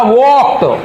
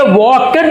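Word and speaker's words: walked: ये वॉकड नहीं है, वॉकड नहीं है, ये है वॉक और ईडी लगा दिया तो ये हो जाएगा वॉक्ड, वॉक्ड, वॉक्ड।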